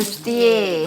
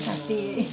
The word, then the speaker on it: bustier: Bustier, bahasa Perancis. Nah, yang betul bacanya Bustier. Bukan pasti. Orang-orang yang ngerti Inggris kan. bustier, salah.